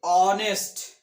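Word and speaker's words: honest: আর এখানে দেখো অনেস্ট, এখানে কনসোনেন্ট সাউন্ডের অস্তিত্বই নেই। এখানে কনসোনেন্ট সাউন্ড, এইচ এর সাউন্ড, হ সাউন্ড উজ্জ আছে। এখানে আমরা কি উচ্চারণ করছি? অনেস্ট, এইচ ও এন ই এস টি, অনেস্ট, অনেস্ট, অ সাউন্ড আসছে।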